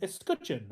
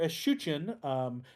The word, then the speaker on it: escutcheon: And that shield shape is known as an escutcheon or escutcheon, depending on how you want to pronounce that.